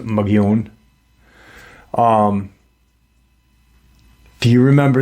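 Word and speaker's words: Mogollon: know um why was and the it's actually pronounced um mugon but the Caucasian pronounce it mag galone it's m o g o l l o n but it's pronounced mun um Do You Remember remember the cave paintings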